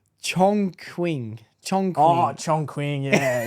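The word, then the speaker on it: Chongqing: a Chinese city called chunk Ching chk you just made that up that's racist bro you said it wrong I said it wrong I'm sure you did wait it's chong quing chong oh Chong Queen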